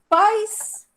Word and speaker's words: pais: Mas antes de eu mostrar, existe uma diferença da pronúncia entre pais e país? Sim. Sim. Falem a primeira. Pais. Paz. Pais. Falem a segunda. País. País. Olha a diferença, hein, gente?